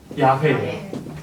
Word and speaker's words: 야훼: 근데 학자들에 의해서 밝혀냈어요. 이렇게 발음됐을 거다. 그게 뭐냐면 야훼예요.